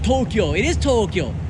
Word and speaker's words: Tokyo: It is Tokyo. Look at the long O and the long long O's. They're both long.